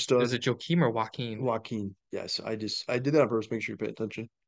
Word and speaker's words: Joaquin: the LIV Golf Tour is I can't even pronounce his name, is Joachim Neiman. Niemann. Yeah. He's a I think super it's, is stud. it Joachim or Joaquin? Joaquin.